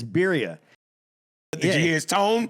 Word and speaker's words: birria: It's birria. So I pronounced it wrong? Yeah, it's birria.